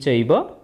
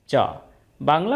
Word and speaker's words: চৈব: চ এব কিন্তু আমরা এখানে চব না বলে চৈবই বলবচ চইব তাহলে দ্বিতীয় লাইনের